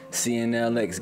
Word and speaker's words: CNLX: CNLX with the X is silent.